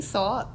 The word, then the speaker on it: Sault: on now well my name is AKA salt I'm 21. s-a-u-l-t they spell it properly yes period um it's cool